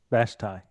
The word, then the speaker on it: Vashti: Vashti.